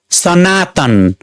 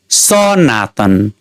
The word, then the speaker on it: सनातन: नक राम्रो सुनिदैन त्यस्तै तीन वटा अक्षर भएको शब्द सनातन उच्चारण गरि हेरौ। सनातन यहाँ दोस्रो दो्र अक्षर ना मा बलाघात परेको छ त्यस्तै पहिलो अक्षरमा बलाघात पारी हेरौ सनातन स्वाभाविक सुनिएन त्यस्तै तेस्रो अक्षरमा बलाघात पारी हेरौ सनातन राम्रो सुनिएन अब हामी इङलिश